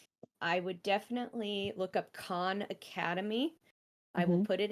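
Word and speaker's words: Khan: some point but it's it's Con Academy it's it's spelled like the Mongolian word for King k h n uh and it is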